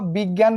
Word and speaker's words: বিজ্ঞান: যেমন দেখো বিজ্ঞান বানানে এই যে উচ্চারণটা কি হয়ে গেছে, গ প্লাস গয়ে চন্দ্রবিন্দু আকার হয়ে গেছে।